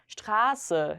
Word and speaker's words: Straße: ST로 시작했을 때 슈트의 발음이 돼야 되겠죠. 길이란 뜻입니다. 그래서 요거를 줄여가지고 어떤 도로명을 얘기할 때 Straße 이렇게 줄여서 말합니다.